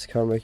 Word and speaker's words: Cymric: It's pronounced with a soft C.